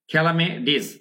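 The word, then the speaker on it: calamities: খেয়াল করুন প্রাকৃতিক দুর্যোগ, আমি কি কি উচ্চারণ করছি, খেলামেডিস, খেলামেডিস, খেলামে, এখানে কিন্তু একারের মতো উচ্চারণ, খেলামেডিস, খেলামেডিস এবং ডয়ের মতো উচ্চারণ হচ্ছে, তাই না, অনেক সময় আমেরিকান ইংলিশে টি চেঞ্জেস টু ডি।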